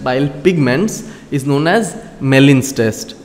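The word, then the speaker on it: Gmelin: pigments is known as melin's test g is silent okay it is not gmalin right it is melin's test so test for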